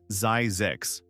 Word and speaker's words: Zzyzx: His solution was Zzyzx, pronounced Zzyzx.